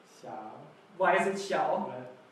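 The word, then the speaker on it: 小: It's the third tone, the one that goes down and up. Awesome, very good, yeah. Because in the story there's the dragon taking a picture with his Xiaomi smartphone. So the pronunciation is xiao.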